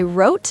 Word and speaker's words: wrote: Wrote, designed, and phone all have weird silent consonants.